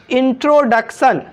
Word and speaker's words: introduction: अब दोस्तों INTRODUCTION, इंट्रोडक्शन। क्या है दोस्तों? इंट्रोडक्शन। यहाँ पे भी देखिए दोस्तों, इस आई का उच्चारण क्या हो रहा है? ई हो रहा है ना, इंट्रो हो रहा है ना।